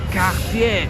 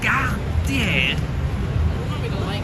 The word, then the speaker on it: Cartier: He goes, "Cartier, you have to say it right. It's a French brand. You have to say it correctly. It's not Cartier, it's Ga tier."